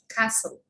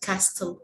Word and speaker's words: castle: silent t like butcher castle it's not butcher it's a butcher okay it's not castle it's a castle christmas not christmas there's